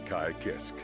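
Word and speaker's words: Ky Kiske: in my dictionary you'd see a picture of kai kisk whoa i forgot that's how they say it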